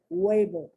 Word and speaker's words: huevo: Huele, huevo, hueso, huecar, huelga. Do you notice the beginning of the syllable is that what sound, but the H is there because that's the root of the language, okay?